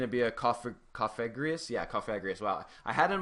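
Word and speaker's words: Cofagrigus: Yeah, Cofagrius.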